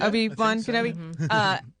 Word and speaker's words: Obi-Wan Kenobi: Obi-Wan Kenobi.